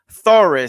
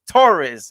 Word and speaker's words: Thoris: it's and it's not thorough even though it looks like it's pronounced story i remember your facebook live it's not thorough it's taurus it's like the spanish last name torres torres it looks like it's